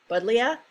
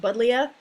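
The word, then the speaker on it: Buddleja: um but leah davidii budlia um it's a little tricky there but it i've always heard it pronounced buddlia buxus microphylla japonica so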